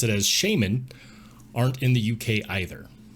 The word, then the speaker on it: shaman: Shaman not the shaman not the shaman the shaman and today I'm going to prove it it's pronounced shaman like this let's start with an example for American English in the U.S we say shaman so interesting fact Shaman is how it's pronounced in the UK we're not in the